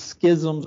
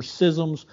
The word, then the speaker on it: schism: The word is schisms or schisms, depending on how you pronounce it. And I've been told that I pronounce it wrong, but I looked at Webster and it said you can pronounce it either way.